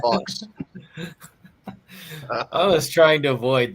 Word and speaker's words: Fuchs: Taymor pronounced it Fuchs on the commentary. But it looks like something else, but we're not. Yeah, I was gonna say it looks like I pronounce it Fox.